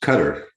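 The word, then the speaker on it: cdr: Kada, it seems a little awkward. Any suggestions? You have it right. Kada? No, just Cutter.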